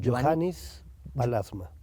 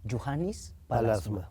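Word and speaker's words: Juhani Pallasmaa: un arquitecto finlandés que se pronuncia, ¿cómo se pronuncia? Johannes Palasma. Juhannes Palasma, finlandés, sí.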